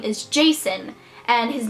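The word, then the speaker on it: Jacin: really close with winter and his name is Jason and his name is spelled j a c i n and it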